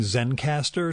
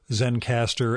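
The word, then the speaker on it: Zencastr: the setup I'm using Zen caster to record these remotes it's spelled like it sounds except there is no final E so Zen caster ends well it's ze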